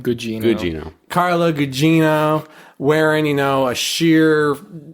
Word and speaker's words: Gugino: Did I pronounce it right? Gugino.